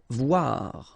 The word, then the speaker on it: voir: Voir, okay, same thing here, O-I, oua, voir.